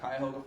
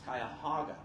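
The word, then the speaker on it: Cuyahoga: telling the mayor of Kyhoga Falls, we put Kyhoga Falls as an Easter egg in a lot of our other movies until I heard from one producer, you're mispronouncing it. It's Kayahaga.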